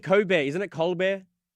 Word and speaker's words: Colbert: You keep saying Cobear, isn't it? Cob Bear. Coar, isn't isn't there an L in there? It's silent. The L is silent as well as the T.